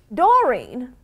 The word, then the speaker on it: Doreen: Dorine, first of all, your name rhymes with Halloween.